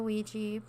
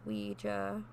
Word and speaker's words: Ouija: You know what a Ouija, pronounced Ouija or Ouija board is.